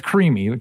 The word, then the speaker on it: Crimi: And is the correct pronunciation of the last name uh crime or crim? What is the exact pronunciation of that? It's creamy. Like the text.